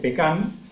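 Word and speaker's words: pecán: En el caso de Argentina, la forma de mencionarlo es pecan, con acento en la A, y se denomina indistintamente tanto al árbol o al cultivo como al fruto seco.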